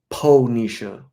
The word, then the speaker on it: Pisha: love your first name Pisha not rich Nisha Pisha right right that's when